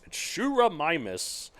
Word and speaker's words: Sciurumimus: Okay, I had to look up how to pronounce this. According to this thing, and I'm just going to believe it's Sciurumimus, or squirrel mimic. It looks like Sciurumimus? Sciuru? Oh, I'm thinking sci like science, you know.